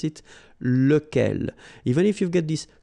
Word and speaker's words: lequel: So remember, you've got to pronounce it lequel. Even if you've got this QU, okay? Remember that this U phonetically doesn't exist, so lequel.